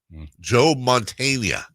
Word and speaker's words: Joe Montana: Let me get the pronunciation right. God, how long ago was this? Joa Montana. Joa Montana? Not familiar. Montana? Joe Montana.